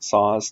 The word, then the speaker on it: Szasz: case you aren't sure Thomas saws Thomas is the common spelling and saws is spelled Sam zebra apple Sam zebra s Z asz Thomas saws a psychiatrist